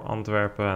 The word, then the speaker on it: Antwerp: in the week before anpa and that that also influenced his race I've noticed I've been switching between ANP the English pronunciation and anpin the Dutch one but they both obviously mean the same outside of the top